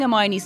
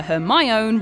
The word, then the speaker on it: Hermione: pronounce her name properly he calls her her my own rather than hermione so hermione decides to